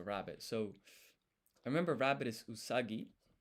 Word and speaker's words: usagi: So remember rabbit is usagi.